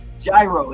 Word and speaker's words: gyro: Gyro, yeah, that's how I would pronounce it. Just like a gyro or hero sandwich. Hero pistol, maybe? I don't think so. I think it's gyro. Like a gyroscope.